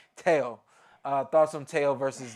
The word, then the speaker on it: Teo: say his name right everybody says Tio but exactly tail uh thoughts on tail